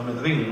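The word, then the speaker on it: Myrddin: que creo que decía que se decía en gaélico, con el acento en la I, no Mirdin, sino Mirdin, ¿no?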